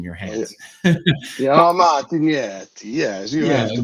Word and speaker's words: Martignetti: So Martinetti is how you pronounce it in the U.S., but outside of the U.S. and Italy, it would be more Martinetti with the little bit of a pronunciation, and of course, using your Oh, yeah.